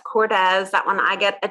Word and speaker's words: Cordes: And when I looked at it phonetically, I said cords. And right. So that's Cordes.